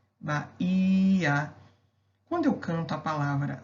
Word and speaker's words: Bahia: Quando eu canto a palavra Bahia, eu vejo que a sílaba tônica da palavra é o HI, Bahia.